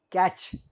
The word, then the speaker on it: catch: c h t silent catch c a t c h t silent correct like that the